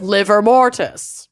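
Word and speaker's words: livor mortis: deal with it is liver mortis levor Liv or mortis but it is just pronounced liver I know Lucy's talked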